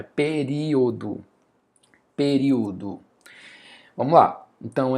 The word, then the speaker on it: período: Eu não falo pe perio. Pero, não faz sentido. Então é período.